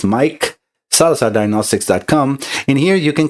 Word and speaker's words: Maic: My name is spelled M-A-I-C. It sounds as Mike.